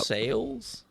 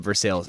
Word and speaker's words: Versailles: well that sounds amazing sales that's pronounced Versailles don't call it Versailles Evan would strangle you know how mad he'd get right now if you heard you say that I just think it's funny it is funny it's just better to save for sales well I think that's actually how they say it it is I'm pretty sure that they say everyone from Versailles calls it for sales yeah I'm pretty sure